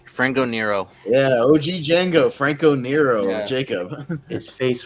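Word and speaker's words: Django: the yeah H Jonathan the D is silent frano Nero yeah OG Jango frankco Nero Jacob his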